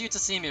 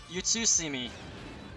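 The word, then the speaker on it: Utsusemi: we get to see me fun it is pronounced you to see me right u TSU you to see me you too sandy close enough it's not nearly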